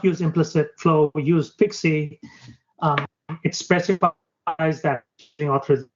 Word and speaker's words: PKCE: the concept so uh Pixie stands for proof uh proof key for code exchange it's quite a mouthful but what you pronounce is Pixie so previously um for